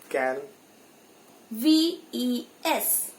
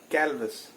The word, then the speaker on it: calves: Cal. VES. Ves. Now how will you pronounce together? Calvis. Sorry, that is calves.